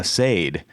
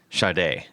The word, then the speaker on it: Sade: it's so it's every everybody was like oh Sade right and she actually they had to put things on like the records and everything that said pronounced shade and um so you